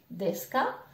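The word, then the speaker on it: です: de la question death je ne prononce toujours pas le U donc DSK nan on l'a vu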